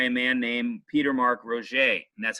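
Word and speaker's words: Roget: one written by a man named Peter mark Rocha and that's how you spell it pronounced that is Roche ROG et he was a British physician and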